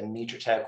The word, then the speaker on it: Mitratech: now integrated within, I guess you pronounce it Mitratech? Right, yeah. Tracker has been acquired by Mitratech, and we are folded into and have integrated into the Mitratech organization. It is pronounced Mitratech.